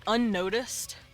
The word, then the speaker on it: unnoticed: At first you don't really hear it, but unnoticed is a word that technically has gemination. There's these two N's that you actually pronounce one after the other, and it makes the N sound stretch.